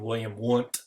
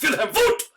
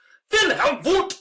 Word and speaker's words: Wilhelm Wundt: I know you're reading it saying William Wundt, but Germans pronounce their V's as W's and their W's as V's, so it's Wilhelm Wundt! Wilhelm Wundt!